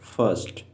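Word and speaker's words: first: पहला फर्स्ट, इसमें are silent है।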